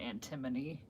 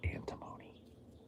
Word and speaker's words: antimony: Apparently, like with that Elements episode, you were pronouncing it like the British way, the antimony. Oh. So you weren't wrong. But I was. Because I'm not British. I should have said antimony.